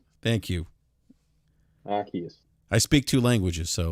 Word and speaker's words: Arceus: War Ragnarok five Pokemon Legend again I can't pronounce that falky what is it what is it again Arceus thank you Arceus I speak two languages so that's my excuse